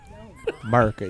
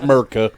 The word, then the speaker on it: America: America, y'all. No, not Merca. America. No. Pronounce it correctly.